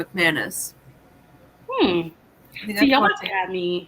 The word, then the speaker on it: McManus: Yeah, the Karen McManus, is that how you say it? Yeah, Okay, McManus.